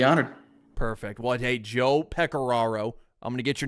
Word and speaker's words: Pecoraro: name one time uh I think I called him Joe Pico and I regret it dearly so Joe if you're listening I'm sorry it is pearo that's how you say it spelled a little different